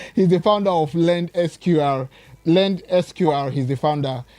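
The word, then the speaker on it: Lendsqr: Thank you for that question, but before I answer that, let me just echo your pronunciation. Okay. The company is called Lend SQR. Lend SQR.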